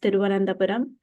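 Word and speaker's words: Thiruvananthapuram: Now it's pronounced Tiruvananthapuram, and it's the capital city of Kerala, which is one of the southernmost states in India.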